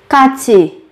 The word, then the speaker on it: 같이: 같이, 같이, 같이, cùng, 같이, cùng. Các bạn nhớ chú ý về cách biến âm khi phát âm.